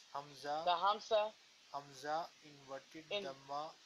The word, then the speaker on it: hamza: Okay, how do you pronounce the hamsa? Do you say hamsa inverted dhamma equals ale? The hamsa. Yes, hamza.